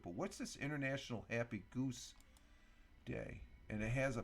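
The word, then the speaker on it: Gose: International happy Goose day instead of rhyming with rose Goose Goose rhymes with Rosa does it okay let's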